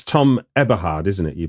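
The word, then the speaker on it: Eberhardt: film, it's really interesting how, and it's Tom Eberhard, isn't it? You pronounce it. Yes. That's the director of the film. Eberhard.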